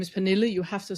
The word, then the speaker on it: Pernille: With my name is Pernille.